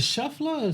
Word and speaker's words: Scheffler: how you pronounce 6:30 is it shuffler shuffler yeah shuffler shuffler okay he gets arrested about 7 a.m.